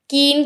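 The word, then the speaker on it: Kleene: कीन क्लोजर में यहाँ पर हमारे पास एल जो है वो साइलेंट होता है, ठीक है, ये एल हमारे पास साइलेंट है, सो हम इसको प्रोनाउंसिएट कैसे करते हैं, कीन क्लोजर।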